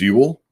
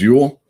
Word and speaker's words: Uel: on the west coast and my name is ewell there you go that's how i spell it my name is ewell and i own fantastic comics it's a comic